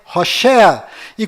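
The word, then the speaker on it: Hoshea: mudou para Josué mas a pronúncia correta de Oséias é hosa e quando Moisés mudou o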